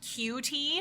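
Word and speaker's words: 9tie: and then t-i-e but because it's Japanese it's pronounced q-t um oh that's adorable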